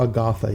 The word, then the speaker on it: Agatha: It's not Agatha? It's Agatha? Agatha, yeah, that's how you say it.